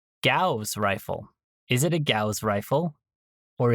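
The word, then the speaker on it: Gauss: Is it a Gaus rifle or is it a gauze rifle or or a G or G rifle? At least at least one one pronunciation guide said it rhymes with a ghost rifle.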